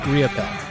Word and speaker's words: Riopel: So Robert Raymond Riopel.